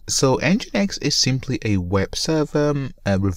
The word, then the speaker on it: nginx: just like that so i always get this name wrong so enginex is simply a web